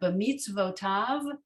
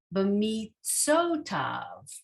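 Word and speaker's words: בְּמִצְוֺתָיו: So why don't we pronounce this b'mitzotav? Well, because this sadi has its own vowel. It can't have two vowels. So this is an unusual application of the vav acting as a consonant and a vowel.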